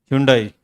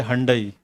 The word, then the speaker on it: Hyundai: And the Hyundai. They say Hyundai in the advertisement. It's Hyundai or Hyundai, right?